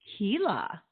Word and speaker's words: Csilla: correctly it's Sheila like Sheila but with a CH sound Tila Kila love that yes it's